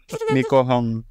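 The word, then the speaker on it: Nie Hoe Kong: Nico Hong. Kapitan Nico Hong ya bacanya gitu ya.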